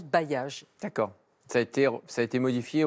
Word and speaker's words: bailliage: Voilà, c'est bailli, âge, bailliage, on prononce bailliage.